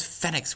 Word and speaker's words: Fenix: So we're calling ours Fenix, which is the Galician pronunciation and spelling of the phoenix.